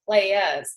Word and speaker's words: Playas: I am the founder of Team Push Playas, and you actually have to say it like that. You have to say playas, because that's what we're playas. We push playas.